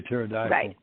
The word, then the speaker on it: pterodactyl: be looking up here pterodactyl um yeah PT PT exactly right yeah but it starts out with a p when you say pterodactyl the p is silent yeah but the spelling